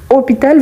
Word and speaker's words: hôpital: mais on va donc, hôpital, vous voyez que c'est un H, et c'est ce qu'on appelle des H muets.